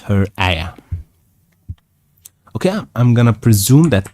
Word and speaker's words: ayah: Yeah, it's actually pronounced ayah.